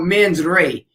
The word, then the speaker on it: mens rea: Now, there's a thing out there for us non-lawyers, a term that's called mens rea, MENSREA. I think I'm pronouncing that correctly, but it's a Latin term that means guilty mind.